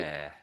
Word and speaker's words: rare: So at the end, the ARE, it's almost like, you know, obviously we're breathing air at the moment. I'm basically saying like the air we're breathing. So air, rare.